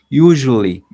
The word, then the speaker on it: usually: Esta palabra usually, miren, no se dice ni usually ni usually con el sonido de show, sino como una Y del francés. Usually. Es una Y muy suave que vibra.